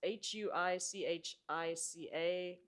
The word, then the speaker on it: Huichica: It's Huichica. Trader Joe's, someone from Trader Joe's called me up and told me how to say this.